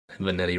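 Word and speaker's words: Vanetti: said vanity a lot vanity rhymes with spaghetti that's right all right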